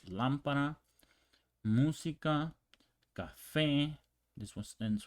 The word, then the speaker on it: lámpara: Lámpara, the same here, ends with an A. So you would think the stress is on pa, but not here. We have that accent right there. That's where the stress is.